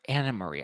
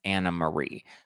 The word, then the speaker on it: AnneMarie: she calling some people out anarie oh sorry Anna Marie I it's spelled anarie but it's pronounced Anna Marie so Anna Marie was just on Carlos King's